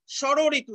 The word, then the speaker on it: ষড়ঋতু: ষড়ঋতু, দেখো ষড়ঋতু মূর্ধন্য স থাকলেও উচ্চারণ সব সময় হবে তালব্য স দিয়ে।